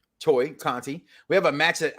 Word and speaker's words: Tay Conti: We have That's a match actually pronounced Toy Conti.